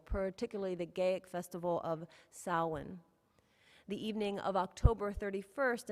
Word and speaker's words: Samhain: usually spelled s-a-m-h-i i'm sorry h-a-i-n but it's pronounced samhain is the pagan holiday celebrating both the beginning